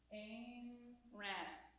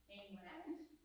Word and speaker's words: Ayn Rand: The Fountainhead by, all right, I'm going to say it slowly, and I'm going to say it wrong every time after that. Ayn Rand. I'll call her Ayn Rand because it's easier for